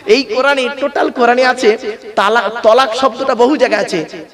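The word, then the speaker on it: طلاق: জিজ্ঞেস করবো কোন স্বামী যদি তার বউকে ফোনে তালাক দেয় হবে আমি বললাম লোকটাকে কে আমাকে বলতে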